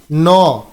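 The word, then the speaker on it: gnaw: Synonyms ম্যাস্টিকেট, ন, এর উচ্চারণটা হবে ন, জি এর উচ্চারণটা হবে না, জি সাইলেন্ট থাকবে, ন।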